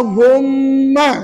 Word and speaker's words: Allahumma: ialah apa sebutanya Allah Allahumma sebut Allahumma ha itu ejaannya dan bunyinya Allahumma puan-puan tak boleh baca Allahumma Allahumma tak boleh kena baca dua harakat Allahumma sebut Allahumma ini